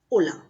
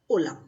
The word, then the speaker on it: hola: Archie in Spanish but H is always silent in Spanish when we use it in any word like hello hello is called Ola in Spanish hola here H is silent we pronounce is hola hola repeat once hola